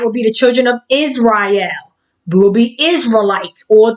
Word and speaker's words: Israel: Israel is 3 syllables, which means which is